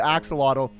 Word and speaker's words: axolotl: these days a hatchet how do you actually pronounce this axle Axolotl axolotl and on day two I also found